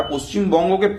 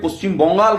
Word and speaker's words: পশ্চিমবঙ্গ: তাহলে আপনারা পশ্চিমবঙ্গকে পশ্চিম বঙ্গাল কেন বলেন? কিসের জন্য? পশ্চিমবঙ্গ বলতে শিখুন।